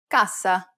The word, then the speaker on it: cassa: Finally, whenever you have a double S, you need to say it with more emphasis. Pronounce it for longer than you typically would in English. Listen to the examples. Cassa.